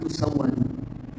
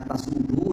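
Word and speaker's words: تُسَوَّدُوا: Tapi memang Imam Al-Bukhari di kitab ilmu itu beliau mengatakan apa namanya tafaqahu qabla an tusawwadu. Yang saya dengar bacanya tusawwadu ya. Kalau ada yang membaca tasudu dari gurunya tidak masalah.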